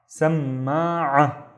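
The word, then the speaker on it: سماعة: So we need to double the M sound. And then one here before this fatha. Let's read the first syllable. Sam, ma, samma'a, samma'a, which is headphones.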